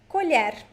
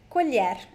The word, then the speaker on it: colher: Colher. Colher. Attention to the LH sound.